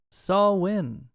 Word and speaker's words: Samhain: this is dannon post it's saul win uh silent m because those crazy gaelics it's it's not the way it's spelled not the way it's